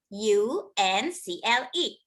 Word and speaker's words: uncle: uncle let's spell angker u n c l e u makes the r sound like umbrella like uncle u n c l e